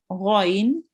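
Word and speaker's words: غَ: And again, it's colored red, and we have to pronounce it thickly with the mouth rounded.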